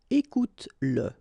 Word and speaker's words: écoute-le: Écoute-le. Okay, écoute-le. So here you pronounce it.